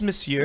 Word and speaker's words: Monsieur: Is that pronounced Monsieur? Yes. Yeah.